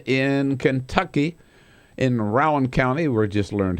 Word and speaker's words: Rowan: latest from that circus d in Kentucky in Rowan County we just learned how to pronounce it from congressman John Yarmouth Rowan County